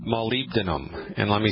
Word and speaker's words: molybdenum: by a deficiency in a strange mineral called molybdenum and let me spell that for you mo ly be like baby